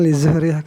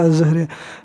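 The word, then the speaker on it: الزهرية: Az-Zuhriyahnya itu dia kurang alifnya, jadi seakan-akan li Zuhriyah katanya. Tetapi bacanya itu az-Zuhriyah.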